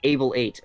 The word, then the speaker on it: Able8: It's Able8, like table, but without the T, and then 8, the number.